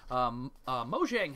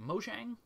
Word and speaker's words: Mojang: Mojang has launched Minecraft Realms, which is a subscription service in North America, and this offers hosting and setup for Minecraft multiplayer worlds.